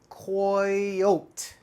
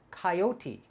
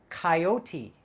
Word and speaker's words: coyote: time you're looking at this word you might pronounce it coyote coyote c-o-y koi o-t-e oat right not right we pronounce this coyote coyote coyote and a coyote is an animal and